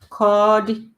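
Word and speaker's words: Ka ọdị: So kodi, bye-bye, kodi. So even though it's written ka, odi, the way you actually say it is kodi, the I is silent.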